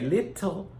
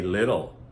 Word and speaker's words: little: We don't really, some people will try to tell you we say little, but in actual production of everyday speech, most Americans say little, a little girl.